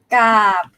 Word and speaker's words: กาบ: กาบ กาบ ใช่ กาบ So when it's a dead syllable, no tone marker, middle class, you pronounce low tone.